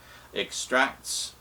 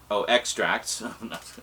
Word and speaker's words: extracts: Extracts. Extracts. I put the emphasis on the wrong syllable.